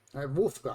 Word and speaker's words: Wolfgard: pronounce the W as a straight V. Wolfgard.